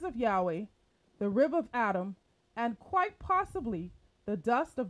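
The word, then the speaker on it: אדמה: adam point five remember the hebrew word for ground is adama for which adam was named after the female connotation of human being is adama as well however it is spelled with an h at the end spelled a d a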